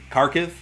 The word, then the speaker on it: Kharkiv: right now another ukrainian city that i can't pronounce it's k-a-r-k-i-v kharkiv mayor of kharkiv in ukraine warned citizens not to leave their